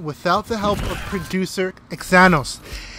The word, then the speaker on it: Xanos: This all could not have been done without the help of producer Xanos. Kind of sounds like Thanos.